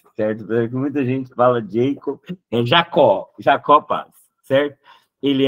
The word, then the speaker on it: Jacob: Olimpíadas é Jacó pales a pronúncia é Jacó tem gente ainda não Jacob não ele é brasileiro e eu cheguei a